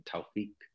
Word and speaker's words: Tawfiq: that's a easy way to remember how to spell it in tawfiq is uh t-a-w-f-i-q thank you um I'm so